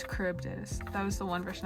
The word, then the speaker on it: Charybdis: It's Charybdis. That was the one version I couldn't pronounce.